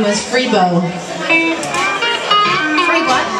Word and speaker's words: Freebo: She used to have a bass player that played tuba, and his name was Freebo. Free what? Freebo. I don't know how you spell that.